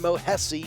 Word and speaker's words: Mohesi: Yesterday, the two new additions to Mirage in both Dexter and Mohesi, yes, it rhymes with Jesse, his name, made their debuts.